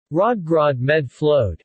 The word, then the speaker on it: Rødgrød med fløde: Rødgrød med fløde is often jokingly used by Danes as a shibboleth, as it contains the soft D several times, which most foreigners find difficult to pronounce.